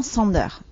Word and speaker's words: Sander: pr ça se prenom Sander alors il y a des gens qui mettent un petit accent américain mais ça c'est c'est